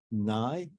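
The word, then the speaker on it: Ngai: uh the the a recent book by May Nye that the way you pronounced his name uh NGA AI on the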